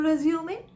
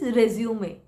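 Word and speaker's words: résumé: Also, it is rumé and not resume. The correct pronunciation is réumé.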